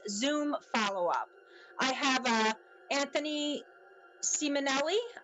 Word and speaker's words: Simonelli: I have Anthony Simonelli. Am I pronouncing that right, Anthony? And Jason Nappi here following up. Simonelli, yes. I always say it wrong.